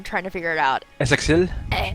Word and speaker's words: Essexite: Essexil or Essexit? Essexit. We'll call him Sexit.